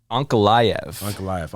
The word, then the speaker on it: Ankalaev: Ankalaev.